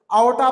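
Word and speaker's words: aorta: उसके बाद ऊपर का जो हिस्सा है, तीन छोटे छोटे पाइप लाइक स्ट्रक्चर है, उसको बोल रहे हैं आओटा। आर वहां पर साइलेंट रहता, आओटा प्रोनाउंस करेंगे उसको।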